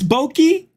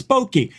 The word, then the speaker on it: bokeh: debunked oh my God bokeh that's boki how do you say it oh I made a mistake that's right it's boki he could have done